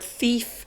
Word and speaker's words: thief: tricky to see and because we've got into the habit of pronouncing a th sound like an F sound which is actually a London thing it's not it's not our British thing it's not a Scottish thing it's very much a